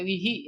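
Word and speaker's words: بِهِ: dengan hu jadi e bukan bihu bacanya tapi bihi ya bihi bihima bihim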